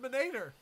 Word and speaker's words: Minator: It's pronounced Minator. Minator. Yeah, it's Italian.